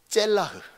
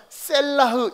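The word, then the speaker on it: צלח: 단 이 경우 짤라흐를 좀 다르게 읽습니다. 다르게 어떻게 읽느냐? 젤라흐. 그 발음이 그 발음 같은데 달라요. 젤라흐. 어디서 여러분 찾아보시면 셀라흐 이렇게 읽기도 할 겁니다. 그러니까 여러분 오렌지가 맞냐 오린지가 맞냐 그 차이예요.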